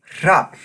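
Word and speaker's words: hrafn: front of that word another great word that uses this consonant is their word for Raven which is hop now I'm definitely exaggerating a little bit with these sounds but you definitely can hear that breathing out of the nose sound any time an Icelander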